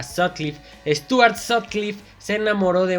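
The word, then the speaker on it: Sutcliffe: Hamburgo el increíble stuarts se pronuncia así sot cliff a sod cliff Stuart cliff Se enamoró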